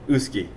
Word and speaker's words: uisce: whiskey all of us call whiskey cuz we mispronounced the Irish word uski which means the Water of Life it was